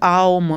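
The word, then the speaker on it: ॐ: ओम मतलब एक 3 लिखते हैं, उसके आगे यूँ, तो ओम मतलब 3 syllable वर्ड है ये, इसका मैं आओम जब उच्चारण करते हो तो आओम। आओम मतलब आकार, उकार, मकार, मतलब कि कोई बना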